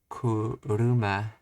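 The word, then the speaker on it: 車: If the word is flat, heiban, there is no such as kuro, kuruma, yeah, low, high, high, kuruma.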